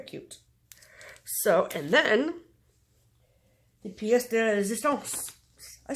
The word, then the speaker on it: pièce de résistance: So, and then the pièce de résistance.